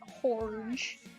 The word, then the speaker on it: Jorge: I'm stealing this joke from someone else, but it's Jorge, but you pronounce it Horge.